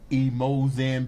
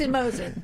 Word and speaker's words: EmoZen: And when you do this, the emoen begins to manifest itself.